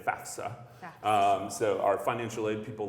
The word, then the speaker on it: FAFSA: people love it when people pronounce it FAFSA not FAFSA FAFSA okay so I've given you a little college knowledge out there parents students back the F comes before the S FAFSA but FAFSA is